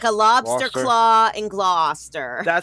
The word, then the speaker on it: Gloucester: It's just Well, you could be saying glouster like iso. What were you saying there? Glower. Yeah, it's it's blah. It's Gloucester like claw like a lobster claw and Gloucester.